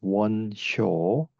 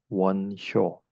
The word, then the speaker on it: Won Hyo: The first monk I want to discuss is Won Hyo. In Chinese, we write his name like this, and we pronounce in Korean Won Hyo.